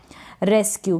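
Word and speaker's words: rescue: Next word है रेस्क्यू। क्या है, रेस्क्यू। एससी को स्क पढ़ा क्योंकि इसके बाद में क्या है, यू है।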